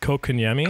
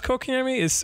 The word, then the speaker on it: Kotkaniemi: I think the way I've been hearing it is Kotkaniemi.